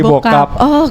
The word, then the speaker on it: Bocup: ee ejaannya dulu Teh jadi penginnya sih dipanggilnya bokap teh Oh Bokap Bukan bocup gitu oh salah bokap oke ya kalau orang